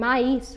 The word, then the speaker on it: maïs: Well, when we have two vowels next to each other and both of them are pronounced as separate letters, the dots help us to recognize that both the vowels will be pronounced separately. So these accents will really